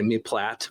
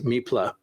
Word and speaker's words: meplat: I say mlat or something like that. It it varies. It's French and I believe the the proper pronunciation is meepla but it's me p l a t.